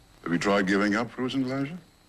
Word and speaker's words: Frusen Glädjé: eating all the Frusen Glädjé. (pronounced froo-zen glah-zha) All the what? Frusen Glädjé. Ice cream. Just can't help myself. Hmm. Frusen Glädjé.